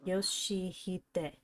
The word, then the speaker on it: Yoshihide: That's not how you read those letters. Yoshihide. That's how you say it.